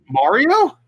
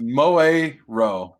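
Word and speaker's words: Moero: Mario? Mario Chronicles. It's Moe-Ro. Moe-Ro Chronicles.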